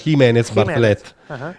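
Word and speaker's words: Jiménez Bartlett: in cui vuoi pronunciarlo perché poi lei è spagnola francese e quindi è scritto Gimenez bartlet si dovrebbe pronunciare Jimenez bartlett quindi alicea Jimenez bartlett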